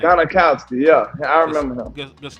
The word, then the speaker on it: Gostkowski: Gostkowski, yeah.